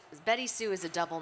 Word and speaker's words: BettySoo: Or BettySoo. Or Yeah. Betty Sue, Yeah. exactly. Yeah. It's just that at the very last second, my dad apparently decided to spell it differently.